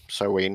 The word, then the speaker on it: Samhain: On Halloween or Samhain, Soween, however you want to pronounce it, the veil between